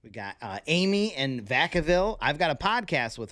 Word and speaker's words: Vacaville: got the family in Vacaville you guys were telling me it was Vacaville but she said no it's Vacaville don't let them fool